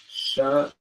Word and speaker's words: Shalom: Write it like this, and the way they'll pronounce it is Shalom.